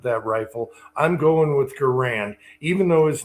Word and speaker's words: Garand: Yeah, the the proper name is Garen because that was his name.